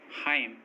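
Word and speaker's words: hymn: किसी वर्ड में एम और एन दोनों साथ में आएँ तो, किसी वर्ड में एम और एन दोनों साथ में आएँ तो एम और एन में एन साइलेंट होता है। जैसे ऑटम, कॉलम, डैम, हाइम, इन सभी वर्ड्स में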